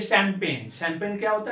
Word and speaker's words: champagne: इसका spelling C से शुरू होगा, CHAUFFEUR, सोफा। अब ये शैंपेन, शैंपेन क्या होता है?